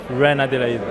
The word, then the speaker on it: Reine-Adelaide: surname incorrectly give me give me the right pronunciation when I delayed Rick but you don't want to call you